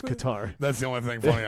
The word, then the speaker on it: Qatar: And so I was I think it's pronounced Qatar, sir. Not really. If you're in the U.S., Qatar.